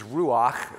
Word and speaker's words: ruach: you have uh the the word for Spirit in Hebrew is ruach okay and you can say it like you're really trying to clear your throat and then the plural